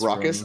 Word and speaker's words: Raucous: It is Raucous. I'm a genius. Yeah. Everybody else pronounces things wrong but me.